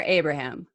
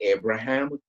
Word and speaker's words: Abraham: I mean, but in this country, I think it's Abraham. It's like the way you say Abraham Lincoln is the same thing. Okay, Abraham. But that's not actually how you pronounce it. My grandfather, his name was Abraham. And definitely that's not how you pronounce it. He's Polish. Abraham. Yeah, it's Abraham. Abraham.